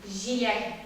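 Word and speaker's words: җиләк: Твердый «ж» для татарского языка не характерен, поэтому у нас «ж» как-то мягко произносится, а здесь уже «ж». «Ж». Давайте вместе произнесем «жа», «жо», «жи», «жиляк».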